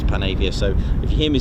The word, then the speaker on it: Panavia: I've been saying Panavir since I was a kid, but I know it's Panavia.